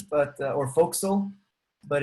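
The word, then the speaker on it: Forecastle: something similar in yeah we use a4 it's pronounced folk castle but or fo'c'sle but it's written for castle it's a great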